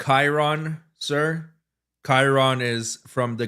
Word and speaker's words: Chiron: Who else you know who has a Bugatti Chiron? Actually, it's pronounced Chiron, sir.